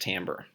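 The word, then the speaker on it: timbre: Tim Bray but I can assure you it's pronounced Tambor and this has to do with music but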